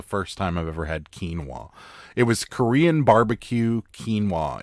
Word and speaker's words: quinoa: correctly so I don't say it incorrectly again quinoa quinoa we had had it before I've never had it before that's the first time I've ever had quinoa it was Korean barbecue quinoa it had peas